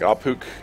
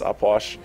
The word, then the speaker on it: Ah Puch: you uh that's uh how do you say his name aash um that is how you apparently pronounce his name so even though it looks like auk it's upwash and uh he's very strong